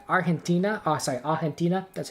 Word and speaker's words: Argentina: we would be in like argentina oh sorry argentina that's how you say it um but i'm